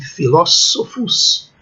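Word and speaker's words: philosophus: A quarta linha, vejam, escola, quando aparecer CH é o som Q, escola, PH é o som F, filósofos, qui, todas as letras são pronunciadas, né?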